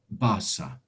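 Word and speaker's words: Barça: mark just of um a voice saying basa which is the name of a football team barcelona that's how it's pronounced and in fact there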